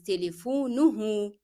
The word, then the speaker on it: تليفونه: You attach to the original word the letter ha with dhamma. In that case, to make it easy for you to pronounce, you will find that the preceding letter is also carrying dhamma. It is telefonuhu. So they will be coming from the same part and easy to pronounce.